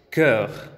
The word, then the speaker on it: cœur: Ok, entonces aquí estamos en la pronunciación de E. Y tenemos corazón, que es cœur.